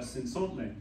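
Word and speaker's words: Cenzontle: I'd like to ask about Sinsontle. Yeah. How's my pronunciation?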